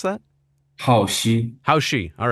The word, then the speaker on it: Haoxi: But your name, your Chinese born given name is how do you pronounce that? Haoxi.